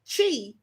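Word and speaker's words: qi: ancient Chinese belief in Chi and it's spelled q i but it's actually pronounced cheap okay means vital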